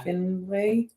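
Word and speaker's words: Findlay: affair with the owner Tom Finley yeah Finley that's how you say it yeah is that finle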